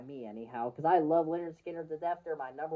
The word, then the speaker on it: Lynyrd Skynyrd: me quite well that is going to be pronounced Leonard Skinner from Leonard Skinner uh you know their debut